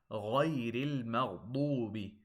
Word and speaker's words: غَيْرِ الْمَغْضُوبِ: The correct pronunciation is غَيْرِ الْمَغْضُوبِ. Make sure the ghain, the two ghains, and the dad are heavy.